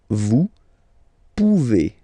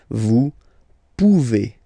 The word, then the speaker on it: vous pouvez: Then vous pouvez. Okay, classic ending as well for the vous form. A Z like that. Okay, remember you pronounce it E. Okay, vous pouvez.